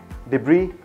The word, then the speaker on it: debris: Everybody know about these, at least if you are not pronouncing them wrong. This is aisle, island, debris, and aisle.